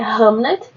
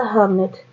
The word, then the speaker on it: Hamnet: ele escreveu a peça hamnet é a a a grafia é é diferente mas a pronúncia é bem parecida e como a minha adicção é de centavos eu acabo falando a mesma coisa hamnet hamnet um romance né